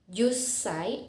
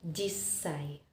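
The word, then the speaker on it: 十歳: nah disini 10 tahun ada sedikit pelafalan yang berbeda bukan jussai tetapi perlu double konsonan yaitu esnya harus double sehingga bunyinya menjadi Hai just say atau Jisai selanjutnya adalah bagaimana jika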